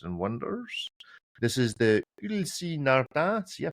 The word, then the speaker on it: Ulysse Nardin: This is the Ulysse Nardin. See, I pronounced it correctly there.